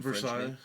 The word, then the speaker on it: Versailles: Do you remember when Ad Infinitum first got together and they did that march on Versailles or whatever how you pronounce that fucking Versailles.